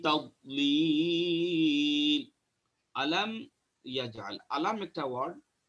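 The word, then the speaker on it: تضليل: তাদ এটা দাদ, তাদ নট তাদ, অনেকে বলেন তাদলিল, এটা দাল না, এটা দাদ। তাহলে এটা তাদলিল হবে না, এটা তাদ পড়তে হবে, খেয়াল করে।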